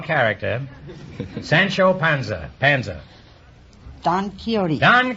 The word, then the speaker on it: Don Quixote: Sancho Panza Panzer don quixote on Quixote is right until I was 40 years old I pronounce that done quick squawks t and i have 150